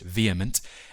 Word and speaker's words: VHEMT: The Voluntary Human Extinction Movement or VHEMT, pronounced vehement, is an environmental movement that calls for all people to abstain from reproduction to cause the gradual voluntary extinction of humankind.